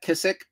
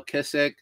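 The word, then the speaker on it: Kizik: of these so kissk you can try to pronounce that kissc k i z i k there you go kissc there it is on the bottom again these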